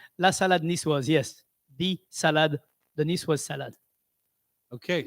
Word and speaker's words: la salade niçoise: Salade niçoise. What happened to the la? La salade niçoise, if it was written down.